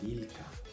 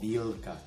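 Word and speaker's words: вилка: Ahora lo estoy pronunciando bien, pero antes yo lo pronunciaba vilka, por ejemplo. Y es gracioso para los que hablan en ruso, cuando tú pronuncias la L muy suave, porque en español es suave, pero en ruso es más fuerte, ¿no?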